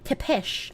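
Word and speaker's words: Țepeș: It's pronounced Tepesh.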